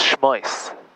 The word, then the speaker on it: Shmois: So it's Shmois. Shmois, that's how you say it? Shmois. In Hebrew. You Shmois.